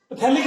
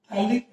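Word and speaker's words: phthalic: थैलामाइड, है ना, थैलीमाइड, पैथेलिक acid, पैथेलिक acid, sorry पैथेलिक acid बोलते हैं, पैथेलिक एसिड, थैलिक एसिड, इसको बोलते हैं पैथेलिक एसिड बोलते हैं हम लोग। थैलिक एसिड हम लोग T साइलेंट है।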